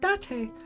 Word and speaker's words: Date: It's pronounced Dante.